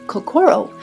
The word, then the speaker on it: kokoro: We have lovingly Americanized the pronunciation of kakoro with the emphasis of core in the center because the heart is in the center of everything we do.